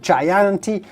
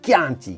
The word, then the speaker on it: Chianti: right well of course you do not want to say chianti but simply chianti great wines from tuscany